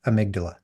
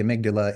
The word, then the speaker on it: amygdala: And a fun way to think about the amygdala is like the bouncer to club brain. And to not say amygdala, I actually renamed her in my brain Amy G. Dalla, which is how amygdala is spelled.